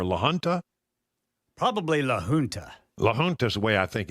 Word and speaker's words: La Junta: La Junta is the way I think it is. Yeah. Right. It's a J, which is in the Spanish pronunciation is an H.